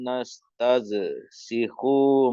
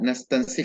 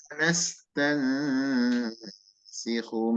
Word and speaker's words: نستنسخ: عليكم بالحق Inna kunna nastazsikhu ma kuntum ta'malun. Itu dibaca nastansik ya Pak, dengan nun dan sin. Inna kunna nastansikhu ma kuntum ta'malun.